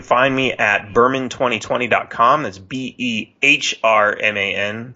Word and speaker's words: Behrman: That's Behrman. The H is silent unless you pronounce it Behrman.